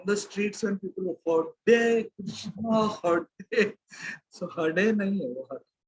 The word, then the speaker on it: Krishna: R, Akarshan, that R, the name of Krishna. So we drop. We say Krishna. Krishna. So, from tomorrow onwards, when we are chanting, we should be very clear in pronouncing Krishna.